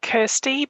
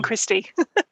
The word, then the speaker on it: Kirsty: pronounce it different ways i pronounce it kirsty but kirsty is fine it's it's better than christy okay thanks so kirsty asks